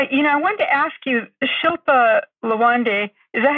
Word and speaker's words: Shilpa Lawande: I wanted to ask you, Shilpa Lawande, is that how you say her name?